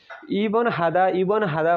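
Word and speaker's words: 입원하다: अब यसपछि हेरौँ इबन हादा भनेर भनिन्छ, इप इप हुन्छ खासमा, यो इप नभनेर इ ब, यो ब चाहिँ माथि गएर, यो प चाहिँ माथि गएर बमा उच्चारण हुन्छ, इबन हादा भन्ने हुन्छ।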